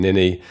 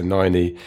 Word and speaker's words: Niney: And I welcomed her in traditional fashion by mispronouncing her name, Ninny. And I'm here to correct it. So Niney, you're very welcome.